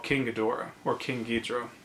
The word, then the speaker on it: Ghidorah: called King Ghidorah or King guitro as it's pronounced in Japanese King Ghidorah is this